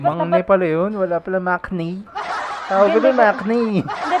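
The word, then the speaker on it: 막내: Hindi siya mo, parang siyang nasa pagitan ng M at saka ng B.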